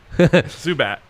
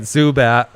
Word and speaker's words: Zubac: the last name pronunciation zubac zubat zubat like the uh like the pokemon all right zubat that's almost endearing compared